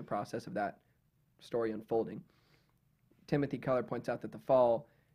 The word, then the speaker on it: Timothy Keller: just spasming it's weird timothy kelly also dude i've been saying it wrong this whole time timothy keller not the whole time